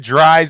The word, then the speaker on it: Dries: Couple recent videos lately with Dries Mertens out there, but officially, I want to pronounce it Dries. I know it's Dries. Dries your eyes, just for rhyming purposes.